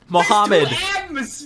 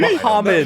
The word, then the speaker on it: Muhammad: Muhammad. There's like You're missing a syllable. You're missing a syllable and like the last letters of the word. Muhammad.